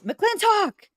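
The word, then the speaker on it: McLintock!: say that you weren't you weren't pronouncing the name of the movie properly it's mclen talk you know you gotta M got ml yeah you have to hear the exclamation M that's an exclamation point Thank you so just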